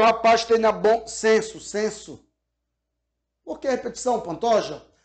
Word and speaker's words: censo: Há uma igualdade sonora, ou seja, senso e senso, seja com S ou com C, tem a mesma pronúncia.